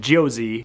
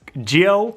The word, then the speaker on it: Jiose: set up your geo i think it's called geo i called it josie because of the s but i think the se is silent it's geo thermal label printer we're